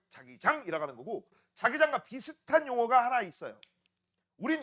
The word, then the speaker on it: 자기장: 자기장 얘기를 좀 알아야 돼요. 자, 그럼 지금부터 이제 자기장에 대해서 알기 위해서는 바로 자기장 정의부터 좀 알아보도록 하겠습니다. 발음 조심하세요. 자기장 아니야. 알겠니? 자기장 아니라 자기장이야.